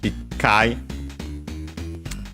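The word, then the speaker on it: 一回: Uh Kai is of Chinese origin. So we use the Chinese numeral it then it becomes uh the C actually becomes uh the doubling of the following consonant. It kai most likely because it was actually uh at one point it kai with the dropped e or u difficult to pronounce so double consonant instead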